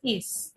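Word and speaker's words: ich: যেমন দেখেন ইস, মিলস, এটা হচ্ছে গিয়ে আই এর পরে, এখানে হচ্ছে এল এর পরে।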